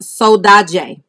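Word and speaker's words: saudade: pronunciation for that again it is pronounced soda jay soda jay is the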